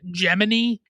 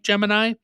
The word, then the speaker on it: Gemini: For some reason, Kevin Bacon is pronouncing Gemini weirdly, like he's saying Gemini, and I don't know why, but that's apparently how they're pronouncing it, even though it's spelled like Gemini.